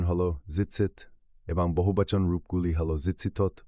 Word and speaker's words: Tzitzit: হল দৃষ্টিগত স্মোরড ঘুমানোর সময়ও আকার কোড জিসিসের উচ্চারণ হল জিতসি এবং বহুবচন রূপগুলি হল জিসি বা সরলভাবে জিত সতর রং নলের নির্দেশ ছায়া প্রয়োজন নেই।